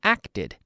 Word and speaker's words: acted: a Tod such as act one syllable act act yesterday I acted depta acted two syllables one syllable becomes to